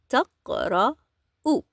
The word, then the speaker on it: تقرأ: Hiya taqra'u. We still need to make the u sound at the end of the verb, similar with the conjugation with the pronoun huwa.